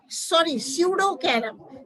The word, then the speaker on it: Pseudocarum: इसी प्रकार स्पूडोकेरम, स्यूडोकेरम, P silent, P silent, जैसे कि निमोनिया होता है तो PSEUDOCARUM, स्यूडोकेरम एक आरोही पौधा है।